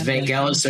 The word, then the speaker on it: Vangelis: I think I think it's Vanelis or or Evangelist. I I'm I'm going to butcher the pronunciation, but a lot of